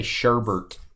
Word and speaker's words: sherbet: I guess I'm country I just say sherbet like Herbert sherbet I don't know